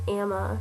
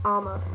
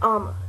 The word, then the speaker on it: Amma: Oh, in the book, there was a librarian named Marion, and Amma, they pronounce it Amma in the movie, which I didn't like. It's Amma.